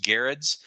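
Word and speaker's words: Gerads: I actually you know I think I've mispronounced his word for a long time now but I looked online and found a video interview with him and that's how it's uh pronounced uh he did the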